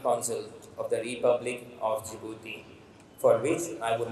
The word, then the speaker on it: Djibouti: of you even I used to call it Djibouti so the pronunciation is jouti and not Djibouti so that is the time I first went